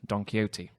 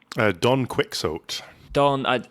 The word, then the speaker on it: Don Quixote: Because I read that the X in Castilian was a sh sound.